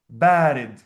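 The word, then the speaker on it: بارد: The first syllable has the long vowel. Bared.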